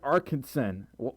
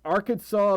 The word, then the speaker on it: Arkansas: for almost an hour you're an arkinson you're it it's it's Arkansas but not Arkansas why can't I read the words how they're spelled I hate silent letters so much hey story folk